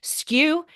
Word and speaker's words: SKU: the e-commerce industry and on air you say skew they will spell it SK W not SKU stock keeping units so